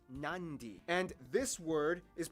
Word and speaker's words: Nadi: the um sound therefore the town of nadi is actually pronounced nandi and this word is